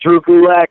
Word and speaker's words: Drew Gulak: me on Twitter at drewcoolac that's d-r-e-w-g-u-l-a-k it rhymes with attack also on Instagram same